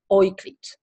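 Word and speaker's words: Euklid: of the mathematician and i will say the german pronunciation oiklit okay that's the german that's the german pronunciation and what he said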